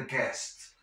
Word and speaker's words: guest: Guest. No vas a pronunciar esa U. Necesitamos atar o amarrar arriba, obviamente, porque son luces. Before the guests arrive. Antes de que lleguen los invitados. No guest, guest. Esa U me la como.